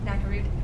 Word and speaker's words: Nakarud: Did I pronounce that right? Nakarud.